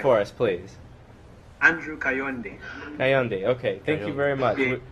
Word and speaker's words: Kayonde: say say it for us please I'm drew condi hey on day okay thank you very much we're doing our